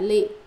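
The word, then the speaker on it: 詈: Chữ đọc là mạ, chữ đọc là lị, lị cũng là mạ.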